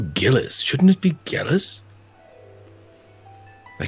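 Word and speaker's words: Gellis: that concerns me is shouldn't your name be pronounced jealous it's G e ll is all this time I've been calling you Gillis shouldn't it be jealous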